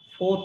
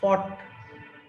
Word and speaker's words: fought: সি ফোর্থ না, এটা হচ্ছে ফট। ফ আর হচ্ছে ট, ফট।